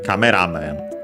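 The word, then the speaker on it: カメラマン: In this case, the first syllable of the first part, so the ra, cameraman, unlike in English.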